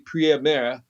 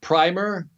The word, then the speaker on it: Priemer: I wanted to say Primer. It's Priemer. It looks like Premier spelled wrong.